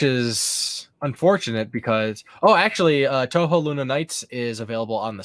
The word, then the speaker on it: Touhou: time being it is cuz I don't believe Touhou aluminates is available on anything else either oh she yeah which is unfortunate because oh actually touhou lunatic is available on the switch I'd imagine